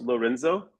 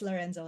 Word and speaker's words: Lorenzo: first name is, and your last name is pronounced Lorenzo. Yes, Lorenzo.